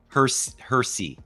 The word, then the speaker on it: Hersey: Hersey. Well, it's spelled Hershey. Yeah. I think that's how it is, right? Yeah. Yeah. It's Hershey without the H.